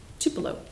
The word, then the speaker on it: Tupelo: he was born it starts with a T Tupelo well that's how you said Tupelo why you